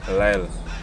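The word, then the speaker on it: Lisle: Hi, my name is Lyle. Pronounce the first name, man, because you know they have a little trouble. You're saying Lyle.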